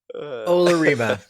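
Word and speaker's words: Olorime: Grizzly Khan taught us how to say this set. um, Olarima. That's it. That's it. Definitely. I knew I wasn't saying it right.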